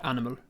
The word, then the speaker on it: animal: was almost that was kind of halfway between the um the light and dark l at the end of animal the animal official letter